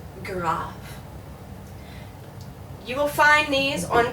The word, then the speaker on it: grave: aent gra once again in English that's an A so we would say grave but in French this is an ah ah so you pronounce this graph you will find these